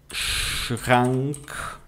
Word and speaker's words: Kühlschrank: No alemão, a pronúncia do L alemão, você coloca a língua lá no céu da boca, ficaria mel. Lá no céu da boca, atrás dos dentes da frente, tá?